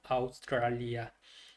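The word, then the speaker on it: Australia: 이게 그 이탈리아 같은 경우는 이제 모음이 돼 AU 이렇게 하면은 오스트리아, 오스트레일리아 이렇게 영어로 이렇게 되는데 얘는 그냥 다 발음해 줘야 된다고 그랬죠. 그래서 아우스트리아, 아우스트랄리아.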